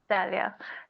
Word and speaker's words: Dalia: Is that the right pronunciation, Professor? Right? It is. Okay. Dalia.